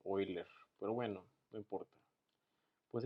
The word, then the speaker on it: Euler: Vamos a ver el tema que es método de Euler o de Euler, como lo quieren pronunciar, pero como es alemán se dice Euler.